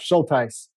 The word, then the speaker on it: Schultheis: We have Schultheis. Am I pronouncing that right? Close enough. Schultheis.